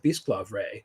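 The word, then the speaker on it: Bisclavret: LibriVox audio of the lay of bisplav Ray uh which I apologize it's b-i-s-c-l-a-v-r-e-t I believe is how it's pronounced um it's an old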